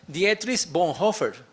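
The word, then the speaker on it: Dietrich Bonhoeffer: Se llama de un señor que se llama Dietris Bonhofer. Me imagino que ustedes hablan alemán, por eso lo pronuncié así.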